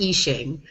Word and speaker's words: Yixing: different pron iations my my understanding is that the Y is kind of Silent is that correct yeah